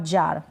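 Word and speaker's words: jar: साथ जुड़ जाए और लास्ट में आर को हम बिल्कुल साइलेंटली सा या थोड़ा सा प्रोनाउंस कर देंगे तो चलेगा और ना भी करते तो भी चलता है अंग्रेजी में तो बार कार और जार इस तरीके से इनको हम प्रोनाउंस करेंगे नेक्स्ट है यह है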